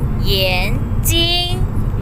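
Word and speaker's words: 眼睛: ดวง ตา นะ คะ ใน ภาษา จีน ออก เสียง ว่า เหรียญ จริง เย็น จริง เย็น จริง นะ คะ เขียน จริง ดวง ตา นะ คะ ดี และ คำ นี้ นะ คะ เค้า เหียน จริง นะ คะ พยายาม ออก เสียง ให้ ถูก นะ คะ ถ้า เกิด ว่า เรา ออก เสียง เพี้ยน เป็น เสียง ที่ 4 คอม หมาย ก็ จะ เปลี่ยน เป็น แว่น ตา ทัน ที นะ คะ ลูก นะ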